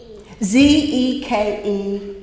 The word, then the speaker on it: Zeke: name z-e-k how do you how do you spell that z-e-k-e and that is the Zeke Zeke is five